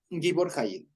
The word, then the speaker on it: Gibor Hayil: O sea, es Gibor Hayil. Así se pronuncia para no hacernos lío, ¿ya? Gibor Hayil.